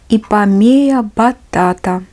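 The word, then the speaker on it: Ipomoea batatas: На латыни это произносится как «ипомея батата».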